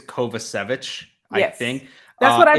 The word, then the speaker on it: Kovacevic: Savage I've heard um I said kovachovich at first but I think it's kovacevic I think that's what